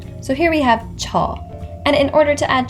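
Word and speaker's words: 저: my pronunciation errors so pronounce it a little bit more like a ch so here we have cha and in order to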